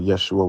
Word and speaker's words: Yeshua: Yeshua would have been the pronunciation.